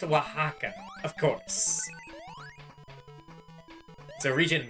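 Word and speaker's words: Oaxaca: my silly Mario game it's pronounced Waka of course so region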